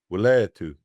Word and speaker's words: Wileety: So we're going to play that briefly so that all day we know what the pronunciation is. Thank you. Wileety, Native American College.